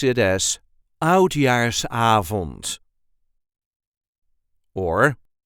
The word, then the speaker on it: Oudjaarsavond: We pronounce it as Oudjaarsavond or Oudejaarsavond. The emphasis is on the A of avond.